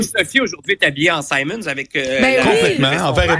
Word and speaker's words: Simons: Simons à prendre des se prononce vraiment Simons parce que Monsieur Simons, c'est vraiment son nom de famille.